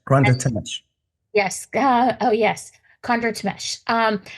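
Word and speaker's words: Thimesch: Yeah, Tamesh, Granda Yes. Tamesh.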